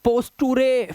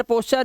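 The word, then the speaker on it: posture: पोस्ट चर ने चर अब नटूरे हैं पोस्टुरे फुटुरे कलुरे ये सब नहीं पढ़ना है स्टुरे डेंटरे फिटरे फैक्टरे क्रिएट ऐसा नहीं है। इसी वजह से हम लोग पीछे हैं। रूल्स पता होने चाहिए हमको कि टी यू आर एक साथ अगर लास्ट में लगा है चार पढ़ना है।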